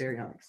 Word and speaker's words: Baryonyx: Baryonyx.